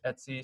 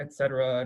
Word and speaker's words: etc: called the hosts file this folder right here is pronounced etsy um not etc not etc uh etsy that's one of the